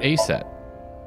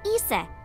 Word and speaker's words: Isis: see uh about asap horace's mom is named isis but in ancient egyptian it's pronounced closer to isa or asa hmm how do i